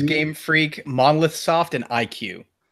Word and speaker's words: iQue: Is it Retro Studios, Game Freak, Monolith Soft, or IQ? And that's spelled IQUE.